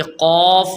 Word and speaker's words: قاف: فرق یہ کرنا ہے کہ قاف جو نقطے والا ہے اس کو ہم موٹا